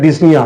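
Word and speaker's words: dyspnea: उसको, बोलता है डिस्निया, यहाँ पे पी साइलेंट है, उसको बोलता है डिस्निया, सांस लेने में दिक्कत होगा।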